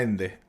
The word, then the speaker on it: Ende: en España o sea claro cierto Noemí Cómo pronunciamos a ende mijael mijael mijael mijael ende perfecto eh Cristina